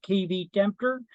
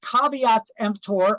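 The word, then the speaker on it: caveat emptor: so caveat to EMP tour that is not pronounced KV tempter it's pronounced caveats empor another term you need to know in Latin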